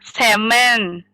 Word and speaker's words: salmon: Salmon. Salmon itu cara bacanya salmon.